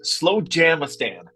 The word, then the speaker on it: Slowjamastan: It's Slowjamastan is the way that is pronounced.